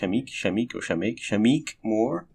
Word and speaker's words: Shameik Moore: I think it's pronounced Shameik Moore, who plays Miles Morales.